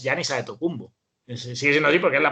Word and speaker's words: Giannis Antetokounmpo: antes del grupo pero realmente el nombre y la producción correcta es ya niza de tocumbo en sencillo porque la